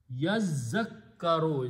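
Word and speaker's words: يذّكّرون: In the recitation, in the tajweed, when a qari is reciting the makharij of every letter, the makhraj of ta and dhal are very close to each other.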